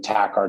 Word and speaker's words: Takhar: It's pronounced like the music but spelled differently. It's J A last name Tac R T A K H A R.